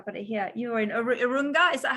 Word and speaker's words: Urunga: You're in Urunga. Is that how you say it? Actually, that is almost how you say it. Urunga in Gumbaynggirr. Okay, okay. Urunga in English.